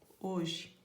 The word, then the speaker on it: hoje: Mas a gente não lê essa letra, ela não tem som, fica o O, hoje.